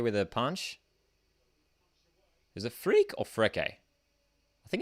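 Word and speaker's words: Freke: his same score goal pronounced freak unfortunately it is freak macklin freak macklin freak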